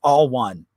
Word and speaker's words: Alwan: now since that so what i love about them is they are really pre so it's pronounced all one because even back they